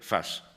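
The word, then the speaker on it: فاس: franceses lo escriben fez pero en árabe se dice y se escribe Fast que esa es otra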